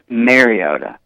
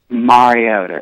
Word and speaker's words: Mariota: but a lot of people wanted to pronounce his name Marcus Mariota even think that's how they pronounce that when he got drafted but it's not correct it it's Marcus Mariota it's like Mar Mar yeah well I hope